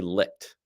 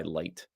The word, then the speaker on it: Licht: I feel like it should be Licht, Licht, but he goes by Light. I think Licht is actually the correct pronunciation, but he doesn't like to be called Licht, probably.